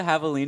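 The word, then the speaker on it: javelina: Do you know what a Havalina is? Couldn't tell you. I was thinking about javelins. Yeah. I mean, it's spelled I want to say the exact same.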